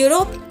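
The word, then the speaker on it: Europe: तो अब आपको सही में पता चल गया होगा कि यूरोप ई से शुरू जरूर होता है पर प्रोनाउंसिएशन तो य से आती है, तो इसके लिए हम इसके आगे लगाएंगे ए।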